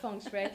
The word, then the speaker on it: Feng Shui: Pronounced it perfectly. Feng Shui.